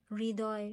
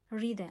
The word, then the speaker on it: হৃদয়: সাথে কি আসে ঋ আমরা উচ্চারণ করি তাই না হৃদয় আমরা তো হদয় বলি না আমরা কি বলি হৃদয় তাই না হয ঋ